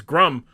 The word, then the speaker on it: Grum: name I've said that it's grum it rhymes with come it's uh wait what